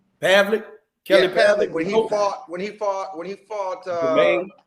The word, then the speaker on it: Pavlik: Pavlik.